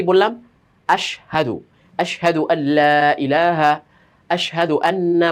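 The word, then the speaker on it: أشهد: পড়ি এইযে ইয়াশহাদু এখান থেকে একটা শব্দ কি আশহাদু তো অনেক সময় উচ্চারণটা এমনভাবে হয়ে যায় যে হাটা যে এখানে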